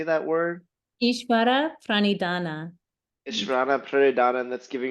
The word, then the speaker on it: Ishvara pranidhana: Ishvara pranidhana.